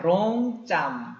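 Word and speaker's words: រង់ចាំ: 자, 롱짬. 자, 로 발음 조심해야 되죠. 혀를 떨어주세요.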